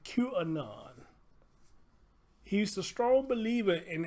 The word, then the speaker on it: QAnon: Taylor Coleman hey y'all see where I got cunan that's how they pronounce it Q Anon he's the strong believer